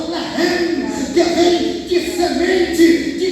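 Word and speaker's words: לחם: A palavra pão no hebraico, irmão, significa e se pronuncia lehem, que vem de semente, de grãos.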